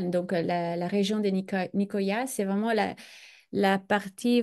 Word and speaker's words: Nicoya: à l'île de nikya c'est s'appelle niikya je pense que ça se prononce donc on est juste